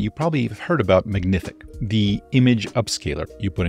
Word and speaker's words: Magnific: It's pronounced Magnific.